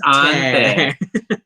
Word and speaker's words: auntie: Noel adds, in my gay family, I'm the auntie, pronounced ante.